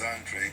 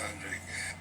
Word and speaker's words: Andrade: I think he gets sick of trying to explain it to people, but everybody says Andre, but I think that's actually wrong. But even Demetrius Andrade, I think that any